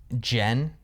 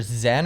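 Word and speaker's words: Zhen: Jen. Jen. Yeah. It's like it's like pronounced like it's like either Zen or Jen.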